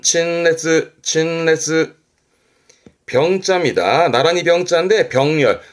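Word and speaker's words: 陳列: 발음은 친레즈.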